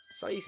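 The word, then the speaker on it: Saïss: Saiss is about right. I just say Saiss, but I'm pretty sure Saiss is the right way of saying it.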